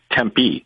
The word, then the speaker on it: Tempe: about what to do when he's down in Tempe did I say it right you said it